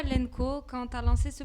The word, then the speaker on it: LNKO: Nous, on dit Lenco. Lenco, ok.